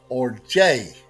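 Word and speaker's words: ὀργή: it is interpreted as it is pronounced as orge. Okay, that is where we get our word for orgy.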